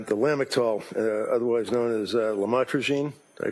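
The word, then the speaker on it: lamotrigine: about the u the lamel otherwise known as lamatroine. Did I pronounce that right? Lamotrograene.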